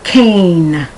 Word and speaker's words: cane: And that E tells you that the A before, the vowel that comes before, is pronounced in its long form.